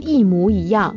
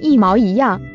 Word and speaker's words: 一模一样: 在职业用语里边将一模一样发音为一毛一样。